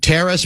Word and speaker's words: teres: He has what's called a grade 2 strain of the teres major, T-E-R-E-S. Am I pronouncing that right?